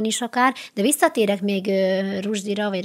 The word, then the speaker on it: Rushdie: Rushdie, ő magát Rushdie-nak mondja, jó. Szokták Rushdie-nak is, mert egyébként az angol az egy ilyen furcsa nyelv, többféleképpen hallottam. Én a Rushdie-t tartom, mert egyébként ő amúgy egy indiai muszlim családból származó ember, és az indiai akcentusban ez valóban közelebb áll, ha én elég ilyet hallottam az ottaniaknak a garatához és felső szájpadához, úgyhogy szerintem Rushdie. Akkor maradjunk a Rushdie-nál.